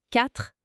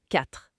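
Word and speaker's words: quatre: Après c'est 4 4 4 Celui-là il est rapide. Une syllabe. 4. Et on retrouve ce re à la fin. C'est ça. 4. Pas de son e à la fin. Attention juste 4.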